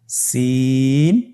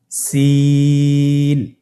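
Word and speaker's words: سين: বাকি দুইটি হরফ নাম হল সিন এবংশিন। সিন এবংশিন। সিন হরফটি উচ্চারণ ক্ষেত্রে অবশ্যই তিন আলিফ টেনে পড়তে হবে। সিন হরফটি বারিক হরফ পাতলা করে উচ্চারণ করতে হবে। তাহলে আমার সাথে বলুন সিন।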